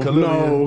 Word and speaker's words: Khalilian: We can go with the different pronunciations. No. That's a Pokemon. That's how I knew to say it like that. No. Khalilian.